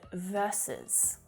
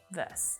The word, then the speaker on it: versus: of the word versus versus that second syllable is unstressed okay versus so when you see this and you want to say it in spoken english you always say the complete word you never say vs all right but you will hear some native speakers reduce it down to just this verse instead of versus so versus is commonly